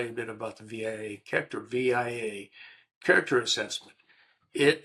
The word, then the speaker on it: VIA: It's called I I I pronounce it via. It's VIA A all in uppercase VIA character assessment, character